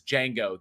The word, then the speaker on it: Django: It says Django. The D is silent.